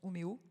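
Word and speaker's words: Umeå: Vienne a anticipé depuis 30 ans oua, ça se prononce Omeo en Suède qui d'ailleurs aujourd'hui a eu les honneurs de Marie-Claire.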